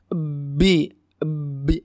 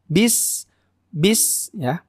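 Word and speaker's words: بسم: dulu nggak boleh ya ada sebagian orang yang membacanya Bi Bi ada awalan ya Nah itu tidak boleh harus langsung bis-bis yang kedua di sini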